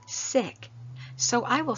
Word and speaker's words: Sikh: the name like this Sikh but my friend Bernard who follows this faith path says sick so I will say